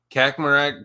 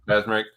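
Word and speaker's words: Kaczmarek: Kakmarak could be, or Kazmarek. How do you say it? Kazmarek. Yep. Kazmarek. He could be a possibility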